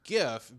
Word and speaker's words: GIF: bones right wild yeah so the the its gift because of the hard G based on the Greek etymology of the words and the letters versus jiff the peanut butter being ji from French I still don't understand